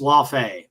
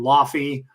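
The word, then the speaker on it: Laufey: is a four five nobody knows how to pronounce this it's laf uh people pronounce some of them lafy or Lai it's laf um he is the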